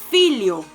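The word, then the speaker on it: filho: ejemplo ya dijimos que nh la n y el h la h es que se pronunciaría como y no sé si quieren agarrar un papel y escribirlo para que les quede así como más fácil por ejemplo hijo hijo se dice phil yo pero se escribe efe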